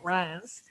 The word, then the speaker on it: Reims: They're grown everywhere, but the Montagne de Reims, and that's how it's pronounced, I like to hold my nose when I say it, Reims, is famous for Pinot Noir, especially their Grand Cru vineyards.